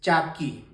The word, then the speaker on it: chaki: aprendiendo el idioma quechua esta se pronuncia como lo lees Chaki ya Chaki que significaría